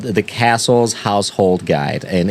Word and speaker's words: Cassell: they actually published a book in the 1860s called The Castle's Household Guide, and it's spelled Cassell. It's Castle, Petter, and Gaplin, and this